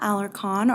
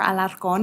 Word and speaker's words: Alarcon: Well, my name is Alarcon, or Alarcon, if you can roll your R's.